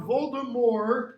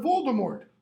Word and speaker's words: Voldemort: what his greatest enemy lord voldemort if you want to pronounce it french-wise or lord voldemort what does voldemort slash